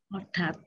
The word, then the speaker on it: হঠাৎ: আবার ট হয়েছে, হঠাৎ হয়েছে। হঠাৎ, হঠাৎ, হঠাৎ, হঠাৎ ঠ লেখা।